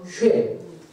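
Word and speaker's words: שֵׁם: 원래 우리 한글 성경에 셈 이렇게 되어 있지만 히브리어 성경의 발음은 쉐입니다. 쉐.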